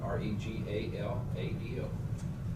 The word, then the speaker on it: Regalado: well, Regalo, I don't know, that's about R-E-G-A-L-A-D-O.